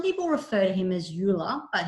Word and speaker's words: Euler: to introduce you to euler's theorem some people refer to him as euler but he was german so it's pronounced euler and his identity this